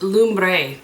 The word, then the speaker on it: Lumbre: Flipped the brush over and then I used Lumbre. That's how you say it. I looked it up. Lombre, which means fire in Spanish.